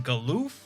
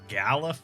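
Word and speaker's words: Galuf: old whole after all mentioning galoof or galif i guess now as it's canonical and i have to pronounce it that way even though i don't like it all right off to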